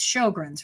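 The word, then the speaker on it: Sjögren's: if i can actually say it right it's sjogren's right you nailed it well done i remember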